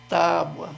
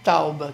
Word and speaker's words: tábua: Então, corrigindo essa palavra, é tábua. A sílaba forte é no tá, é B-U-A, e não tauba. Quer dizer, não pode tirar esse U desse lugar, não.